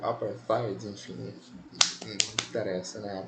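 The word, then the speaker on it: apartheid: Enfim, quando nós pensamos em segregação, vamos lembrar do apartide, né? O aparide, enfim, não interessa, né? A pronúncia não não importa muito. Esse th ele tem aquele som, né? Igual da letra feta, né?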